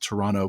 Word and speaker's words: Toronto: out that I pronounced Toronto correctly and didn't pronounce the T so Ben won't be